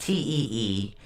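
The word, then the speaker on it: Teiwaz: Okay, now Tiwas is spelled T-E-I-W-A-Z, but it's pronounced T-E-E-W-A-H-Z.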